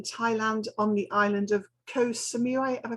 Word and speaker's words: Koh Samui: currently based in thailand on the island of koh samui have i pronounced that correctly yes and you've been there